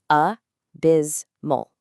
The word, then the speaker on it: abysmal: We're kicking off this darker section with abysmal. Slowly sound it out with me. A biz mal.